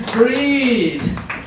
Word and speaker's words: Fried: night i'm your host freed it spelled like fried so i myself am